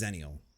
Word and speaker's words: xennial: the way so it's zenial right you're talking about X anal I'm sorry xennial yeah no X is spell sounds Z okay I'm telling you